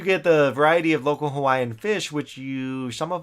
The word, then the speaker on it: Hawaii: gotta say like that Hawaii okay because all the W's in in Hawaii are pronounced as V's right so that's actually